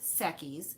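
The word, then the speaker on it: Sechs Kies: but if you're interested look up the group sekis it's spelled s-e-c-h-s k-i-e-s and look up their song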